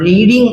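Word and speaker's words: read: लगेगा अब रीडिंग है फर्स्ट फॉर्म रीड होता है और थर्ड फॉर्म इसका रेड होगा स्पेलिंग हमारा ये रहेगा सेम ही रहता है इसमें रीड रेड रेड तो यहां पर थर्ड फॉर्म पढ़ा जाएगा रेड प्रोनंसिएशन थोड़ा चेंज होता है अ बुक इ बीइंग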